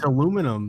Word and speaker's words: aluminium: up with aluminium yeah you're just too lazy to say the extra syllable I mean it's aluminium that's how it is no it doesn't have